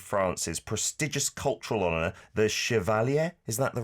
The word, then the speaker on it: Chevalier: You became the very first Korean graphic novelist, comic artist to receive France's prestigious cultural honour, the Chevalier. Is that the right pronunciation? My French is terrible. Chevalier, yes.